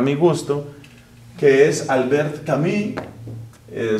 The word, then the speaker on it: Camus: gusto, que es Albert Camí. Eh, su apellido se escribe c A M US. Camus. Entiendo que se pronuncia camí por ser francés.